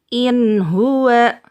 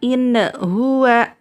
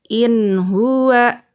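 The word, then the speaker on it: إِنْ هُوَ: In huwa. Jadi tidak boleh nunnya, ingat, nunnya tidak boleh dipantulkan. In huwa, itu salah ya. Atau diputuskan. In huwa, itu juga salah. Jadi dibaca lanjut aja. In huwa.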